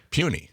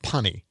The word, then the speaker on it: puny: Because I didn't know I I I always said punny. Really? I know. And it didn't sound right to me and for many years, you know, I thought punny.